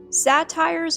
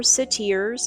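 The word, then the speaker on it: satyrs: Satires or satiers, okay, can be pronounced either way.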